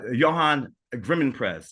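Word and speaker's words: Johan Grimonprez: of uh soundtrack to uh Cuda and uh Johan griman prese did I say it right Johan yes exactly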